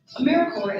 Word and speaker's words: AmeriCorps: say or spell americorps sometimes people pronounce the p but don't make that same mistake americorps is alive and well